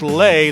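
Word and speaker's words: Lei: I want to thank lay her name is spelled l-e-i uh it's pronounced lay the woman who helped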